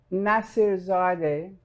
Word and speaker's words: Nassirzadeh: It's Nassirzadeh, Nassirzadeh, and it's really not that difficult if you look at it and pronounce every bit of it.